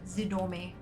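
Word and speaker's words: Zidormi: thought of a Zid or me yeah z-i-d-o-r-m-i zidome sorry it was tripping my brain out I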